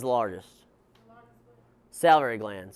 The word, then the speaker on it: salivary: Salivary gland, saliva gland. Saliva gland, or salivary gland is how you say it.